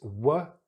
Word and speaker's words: work: And this word is a really commonly mispronounced word. So we need to be a bit careful here. So it's work, the same sound that you hear here. So it's the sound, work. Sometimes people see this OR and they think it's the OR sound, another long vowel, which often is spelt as an OR, but here it's just not.